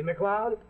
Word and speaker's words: MacLeod: scott's name like mine see macleod sounds like club and it's spelled m-a-c-l-e-o-d well this is bantry